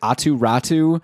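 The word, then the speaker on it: Aatu Räty: Someone was saying how you're supposed to pronounce like Atu Ratu.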